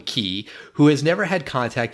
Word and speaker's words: Xi: African man named key it's spelled XI but they call him key who has never had